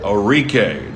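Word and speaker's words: Arike: the first name is orque orque the emphasis on the re and her last name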